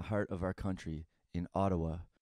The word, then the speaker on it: Ottawa: It is found in the heart of our country, in Ottawa, originally pronounced Odawa or Ottawa.